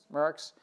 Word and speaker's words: Maersk: trade lens, the IBM and how do you pronounce the company? Merckx.